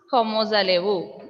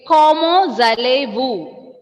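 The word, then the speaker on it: comment allez-vous: Can you pronounce como zalevu? Okay. Como zalevu.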